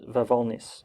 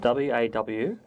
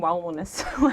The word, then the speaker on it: Wawolnice: Yeah, so it's Polish, so it's Wawolnice. How do you spell it? W-A-W-O-L-N-I-C-E. Oh yeah, I was saying Wawolnice. So it's Wawolnice.